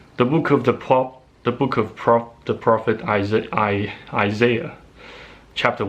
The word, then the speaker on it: Isaiah: book of Isaiah, or Isaiah. Well, in America it seems to me that the vast majority of those folks on YouTube tend to pronounce it as the book of Isaiah instead of Isaiah.